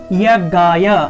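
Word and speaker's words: যজ্ঞায়: তাহলে বলবো আমরা ওম ইয়াজ্ঞায়, অন্তস্থ জ, অন্তস্থ জয়ের সংস্কৃত উচ্চারণ হলো ইয়, অর্থাৎ অ রস্য ই যুগ স্বরেয়, এই দুটি অক্ষরের সম্মিলনে হলো ইয়।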